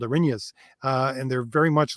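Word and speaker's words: Erinyes: I didn't know how to pronounce it. Arinyas.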